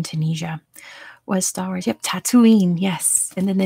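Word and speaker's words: Tataouine: we go it's spelled like that but it's pronounced tatooine and then the planet in star wars is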